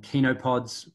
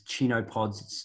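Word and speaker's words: chenopods: brassicas cereals grass and kinopods which you might pronounce as chino pods c-h-e-n-o-p-o-d they're the fifth they're nice to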